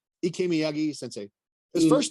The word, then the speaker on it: Ikemi: Ikemi Sensei.